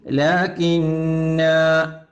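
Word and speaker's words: لٰكِنَّا: നിന്നു അതുകൊണ്ട് ഞാൻ നിർത്തി ലാക്കിന്നാ എന്നാണ് നിർത്തേണ്ടത് ചേർത്തി ഓതുമ്പോൾ ആ അലിഫ് ഉച്ചാരണത്തിൽ വരില്ല ലാക്കിന്നഹു അള്ളാഹു റബ്ബി ചേർത്തി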